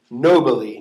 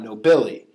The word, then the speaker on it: nobili: word is nobili nobly we have last syllable come to the second last syllable bi short i there's an l just a single consonant so we go back to the third syllable so it would be nobly not nobili um here's another one